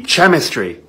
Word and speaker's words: chemistry: when it's not French what sound does this make the CH sound which means this word is it'd be chemistry chemistry you don't see how